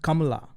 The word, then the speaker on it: Kamala: Her name should be pronounced Kamala. Kamala? Kamala. That's like that's an Indian name, of course.